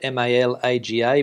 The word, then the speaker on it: Malaga: suburb called uh well it's spelt m-a-l-a-g-a but we pronounce it down there as malaga and uh i tell